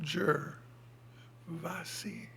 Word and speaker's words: Gervasi: a n sean gervlassi gervasi i would just spell that jur vassi he gives a talk